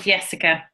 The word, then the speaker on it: Jessica: Well, I pronounce it Jessica. Jessica, okay. Okay, lovely. It's like Johan, Nora. It's like Johan. Same. Okay. Yeah, because it's Swedish. Jessica. Jessica. It's a yes.